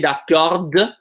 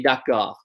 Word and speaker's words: d'accord: We don't say d'accord, we say d'accord. We only actually pronounce that last consonant if we add an E or an ES.